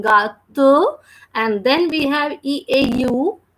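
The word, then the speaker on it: gâteau: So we are saying ga to, and then we have EAU. In a combination, we read that word or we pronounce that word as O. It gives the sound of O.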